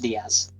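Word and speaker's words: Diez: how would you know that his name is pronounced Diaz it's pretty wild to think about mhm right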